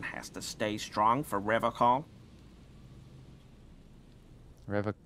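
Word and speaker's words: Revachol: you said rev call I like to pronounce it the hard way the old way way the vespertine way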